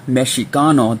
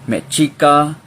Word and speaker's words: Mexica: because Mexico, you know, the X is pronounced, it used to be pronounced like a ch. The Spaniards used to pronounce it like that, Mexica, Mexicano.